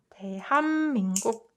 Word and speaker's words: 대한민국: And you can see that there are two consonant assimilation happening in these two parts. So like the best way to pronounce it would be 대한민국. This softened to assimilated to as soon as it meets m, right? And this softened to as soon as it meets k.